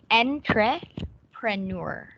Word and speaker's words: entrepreneur: enter burners okay say entrepreneur enter entrepreneur it's really hard okay let's do it slowly it's not enter it's Entre entry okay entrepreneur entrepreneur yes very good